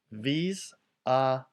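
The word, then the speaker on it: vis-à-vis: This phrase is pronounced vis-a-vis.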